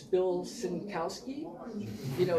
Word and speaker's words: Sienkiewicz: People say, "I have a question," and invariably my first response would be Sienkiewicz, and they go, "How did you know?" But I would point to the pronunciation, and they'd look at it and go